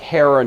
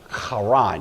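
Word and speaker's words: Harran: to a city called Karan h a r a an it looks like Heron it's usually pronounced Karan you have to kind of growl the H there this was a uh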